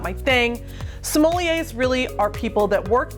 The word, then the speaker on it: sommelier: Sommelier is a French word, and if we were going to say it in French, we would say sommelier.